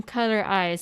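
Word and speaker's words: COLOR*IZ: So after doing some quick research right now, we found out that it's just how you pronounce their name, like of the group Eyes One. It's Color Eyes, Heart Eyes, Bloom Eyes.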